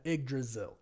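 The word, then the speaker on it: Yggdrasil: pronouncing it but the but the the y g is IG right so thank you for confirming that IG dzil IG Dil thank you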